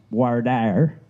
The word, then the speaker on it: voir dire: to speak the truth if you come from the American South it's pronounced voir dire so far they're the